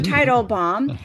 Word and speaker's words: Teitelbaum: Title, like the title of a book. Title. Dr. Teitelbaum.